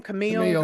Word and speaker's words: Camille: Camille is, how do you say her name? Camille.